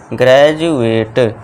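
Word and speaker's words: graduate: इसे क्या पढ़ेंगे हम ग्रेजुएट ग्रेजुएट यानी कि स्नातक ठीक है दोस्तों तो यहां डी का उच्चारण क्या है जा आएगा फिर नेक्स्ट एग्जांपल है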